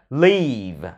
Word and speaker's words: leave: Còn này là leave. Âm y dài mà. E, leave, leave. Phát tròn âm y rồi mới phát âm vờ.